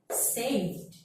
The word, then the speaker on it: saved: So if you have the verb that ends with L, V, N, B, and all of the vowel, you have to pronounce it like D. So repeat what I say. Smelled, saved, cleaned, rubbed, like that.